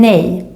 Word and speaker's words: nej: no and the swedish word for no is nay very useful when your swedish teenager asks if